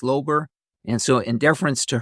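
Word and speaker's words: Löber: this is l o b r and it's pronounced differently it could be labor but my wife's branch of the family says ler and so in deference to her that's the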